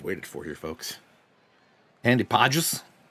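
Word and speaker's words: Pagés: Can't say his name right because we don't know how to pronounce it. I guess I could just... Well, I'm already on stat head. Let me get Andy Podges. Pajes? Pajes. I was right.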